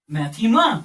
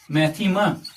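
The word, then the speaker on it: μάθημα: Mu Alpha thetaa Mu Alpha and this is pronounced as maema what maema so this word mathematics actually comes from a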